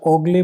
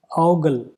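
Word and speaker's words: ogle: अब इसको अगर ओगले पढ़ते हो या ओगली पढ़ते हो तो फिर आपका आंसर नहीं आएगा। The correct pronunciation is औगल, औगल।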